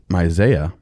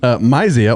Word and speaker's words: Mysia: And when they came to Mysia, Mysia, wow. that hurt. Mysia. Why does this happen every episode? I mispronounce that word.